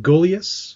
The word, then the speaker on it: Gulyas: just gonna make sure that it's is it go leus oh yes yeah which is now is